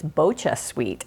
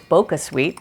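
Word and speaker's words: BochaSweet: a cup of well i understand it's bocha sweet i thought it was boca sweet but anyway we have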